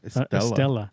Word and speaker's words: Estella: Estella. Had to. Estella. Yeah, that was a weird name. Estella. It's like, how did they come up with Estella? It rhymes with Cruella.